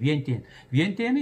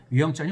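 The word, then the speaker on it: ວຽງຈັນ: 다음에 지금의 라오스의 수도인 위엔티엔은 이제 거기 현지 사람들 많은 위엔티엔은 이것도 이제 프랑스식 발음이라고 하고요. 위영전이 훨씬 현지어 발음에 가깝습니다.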